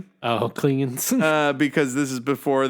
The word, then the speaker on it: Klingon: And also, it's funny cuz Sulu pronounces it clinging. Oh, Klingan.